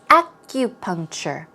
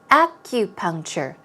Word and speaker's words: acupuncture: practice pronouncing this word as you see the stress goes on the first syllable its acupuncture acupuncture but the K or